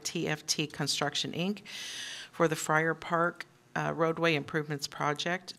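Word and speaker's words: Feyrer: fa I never quite say that right it's pronounced Fri but it's spelled differ yes yes it's uh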